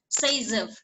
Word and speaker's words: Zaitsev: that was observed by a Russian chemist Alexander Zaitsev, and it's pronounced as Zaitsev, who in 1875 formulated a rule.